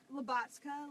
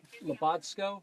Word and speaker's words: Labotka: Labotka, like lobotomy and vodka put together. Labotsko? Labotka? Labotsko. It sounds like Labotka. Bot. Like robot and ka.